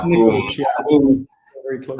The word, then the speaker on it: Nikolić: Is it the right way to pronounce it? It's Who Nikolić, yeah.